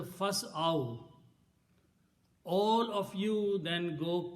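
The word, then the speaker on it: فاسعوا: So, but the full word will be pronounced as a fas'aw.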